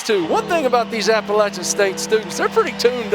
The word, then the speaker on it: Appalachian: are that i know how to say the word appalachian thank you appalachian maddie i think i actually heard you say in appellation no you did it party foul i will i will